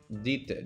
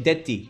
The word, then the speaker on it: дети: But pronounced like... O tebie... O tebie est dite. Do you have kids? O tebie est... O tebie est... Dita. Dite. Deti.